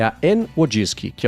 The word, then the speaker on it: Wojcicki: E aí a pronúncia é Wojcicki.